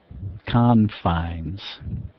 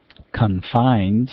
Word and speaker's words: confines: Confines. Confines as the verb form. Stress was on that F. Confines. Stress is on the first syllable. And the S sound is both a Z in both forms.